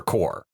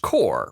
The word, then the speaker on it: CORPS: I remember core. It would be pronounced core, right?